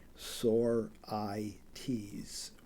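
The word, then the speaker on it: sorites: is called a sores it's pronounced with a long I and a long e sore I's Lis Carroll who is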